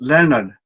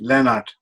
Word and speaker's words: Lennart: Me, myself, I'm pronounced Lennart. In English it would be Lennart, but in Sweden it would be Lennart, or in Italy, Leonardo. That kind of thing.